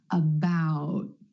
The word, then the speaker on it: about: T at the end most Americans are going to hold that t about my tongue tip goes to the ridge behind my teeth and just stays there about that the tongue